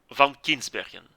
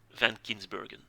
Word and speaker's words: Van Kinsbergen: get started tier one van kinsbergen so van kinsbergen is a name you have to pronounce it as it is closest i can come in english in english is van kinsburgen anyway it's a tier